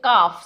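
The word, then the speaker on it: calf: अगर एल आ जाता है तो भी एल साइलेंट होता है तो यह है काफ सी ए एल एफ काफ नॉट कल्लट्टूमुक्कू टी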